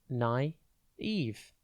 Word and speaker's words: naive: It's pronounced naive. And be careful with the spelling here. It is spelt N-A-I-V-E. Think nigh and then V-E.